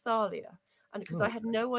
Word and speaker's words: Thalia: If it's Thalia, it's not Talia, it's Thalia.